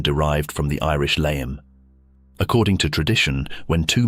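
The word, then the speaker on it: Léim: but locals continued to use the short, sharp pronunciation derived from the Irish layum.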